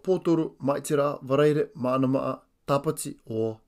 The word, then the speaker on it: Pōtoru: Wednesday is Pōtoru, spelt P-O-T-O-R-U. Repeat after me. Pōtoru.